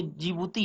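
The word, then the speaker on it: Djibouti: और बात करें जिबूती की, जी ये जिबूती है, इसमें डी साइलेंट होता है।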